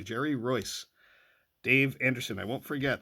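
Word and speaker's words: Jerry Reuss: Jerry Roy Jerry Roy I'll never forget how to pronounce his name check that video he sent me a video telling me how to pronounce his name correctly Jerry Royce Dave Anderson I won't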